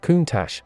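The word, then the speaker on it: Countach: of the name countar it is pronounced kunach and its literal translation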